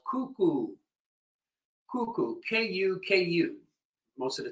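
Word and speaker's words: Kuku: All right, so so we have, we did another rhythm, fairly easy, called cuckoo. Cuckoo, K-U-K-U. Most of the time it's spelled like that.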